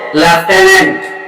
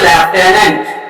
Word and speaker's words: Lieutenant: ই এন এন টি এটা কি বলো এটার উচ্চারণ হচ্ছে লেফটেনেন্ট এল আই ই ইউ টি ই এন এন টি এটার উচ্চারণ হচ্ছে লেফটেনেন্ট ওকে তো এইবার এই লেফটেনেন্ট বানানটি আমাদের কাছে